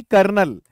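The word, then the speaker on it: colonel: सबसे पहला तो ये है भाई, कर्नल।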